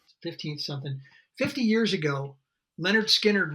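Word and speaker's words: Lynyrd Skynyrd: 50 years ago, Leonard Skinnard released their first record, pronounced Leonard Skinner.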